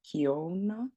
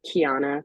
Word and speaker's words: Kiana: to butcher your name Kona if I say your name wrong please please correct yeah you you almost got it correct it's Kiana but it's like really weely Kiana all right hi Kiana